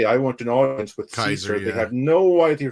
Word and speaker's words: Caesar: want an audience with Caesar." They had no idea you're talking about correct. It's Kaiser is how it would have been pronounced.